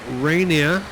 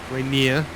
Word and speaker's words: Rainier: there's Seattle there Mount Rainier just about showing through the haze over there Rainier depending on where you're from and how you pronounce it okay it's got a